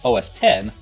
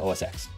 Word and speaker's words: OSX: And yeah, I'm pronouncing the X in that name because, well, it's a proper name, and pronouncing it OS 10 could potentially infringe on copyright. So they must pronounce it OSX.